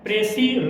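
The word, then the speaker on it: précis: इसको 90% लोग गलत पढ़ते हैं प्रेसिस। क्या पढ़ते हैं? प्रेसिस। लेकिन प्रेसिस जो है वो रॉन्ग प्रोनाउंसिएशन है। एक्चुअल जो इसका उच्चारण होगा वह प्रेसी। एस जो होगा वो साइलेंट हो जाएगा, इसकी उच्चारण हम लोग नहीं करेंगे।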